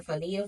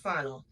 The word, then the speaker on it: Fauna: Y'all, I was calling her Fania for the longest. It's spelled Fania, but it's pronounced Fauna.